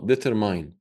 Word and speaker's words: determine: They say, oh, determine. Determine, not determine. Even though the word mine is there, but even though it's there, it doesn't mean it's you or it belongs to you. So you cannot pronounce it the way you want it.